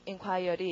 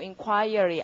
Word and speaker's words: inquiry: 자, 그러면 발음을 제대로 inquiry 이러지 마시고 inquiry 아는 많이 벌려서 그렇게 해두고요.